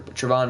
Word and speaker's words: Travon: then he got uh freaking travon walker i almost said trayvon walker travon walker sauce gardner i believe